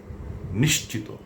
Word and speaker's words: নিশ্চিত: যদিও এ শব্দটির সঠিক এবং প্রমিত উচ্চারণ হচ্ছে নিশ্চিত।